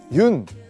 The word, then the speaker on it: 윤: 많은 분들이 아마 그 윤 윤이라고 읽거든요. 연이라고 읽으실 수도 있고 뭐 여러 가지 방법으로 읽으실 수 있는데 그 윤영근 화백님의 성입니다. 그래서 외국에서는 윤이라고 많이 부르기 때문에 제가 그 윤이라는 그